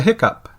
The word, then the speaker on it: hiccough: Based on this, you would expect the same sound to appear in the word hiccough. H-I-C-C-O-U-G-H. Nope. This one is a hiccup.